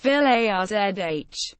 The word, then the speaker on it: Village: its previous names include Nosh Village pronounced V azh and Dava when it